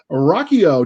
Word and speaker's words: Ruocchio: ado let's introduce you to our guest christopher rocchio did i pronounce it right this time yes you did